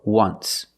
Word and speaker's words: once: But you say there's an O in once. That's a vowel. But phonetically, it's not a vowel. Phonetically, it makes the sound w, like a W. W, once.